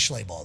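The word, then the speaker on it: Schleibach: His name is Schlei Bach though. Okay. And it's spelled Schlei Bach. Schlei Bach. Yeah, it's like like Maybach.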